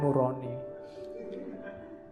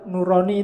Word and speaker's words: nurani: Kalau bahasa jawo kan bacanya O. Jadinya nuroni atau bahasa Arab. Kalau bahasa Arab nurani itu bagus.